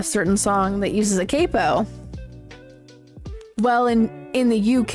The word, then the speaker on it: capo: song that uses a capo. Well, in in the UK it's they pronounce it cappo.